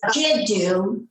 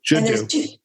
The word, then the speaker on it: Jiddu: The term is Jiddu. Jiddu. That's Arabic for grandfather. Okay. And you can spell it G-I-D-U or G-I-D-O-O.